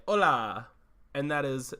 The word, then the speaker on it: Olá: And just look, to our listeners in Brazil, I would just like to say "Olá," and that is how you say it in Portuguese.